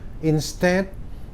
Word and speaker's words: instead: 27 nah 27 ini instead hati-hati ya teman-teman bacanya Jang inad ea kan dibaca i tidak selalu ya instead sebagai gantinya kalau instead of sama tadi in